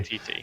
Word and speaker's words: Waititi: I can never pronounce his name Taika properly. Waititi.